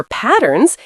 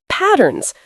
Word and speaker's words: patterns: For patterns, it's patterns. Stress the first syllable.